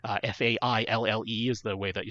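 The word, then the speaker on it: faille: go for either what they call their silky fail f-a-i-l-l-e is the way that you spell that so either the silky fail Fabric or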